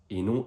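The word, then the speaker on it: نوح: Et ce prénom, vous avez tendance à le prononcer Noé. Mais en arabe, c'est bien n avec un ha à la fin du mot qui donne simpement prononciation suivante répète après moi no.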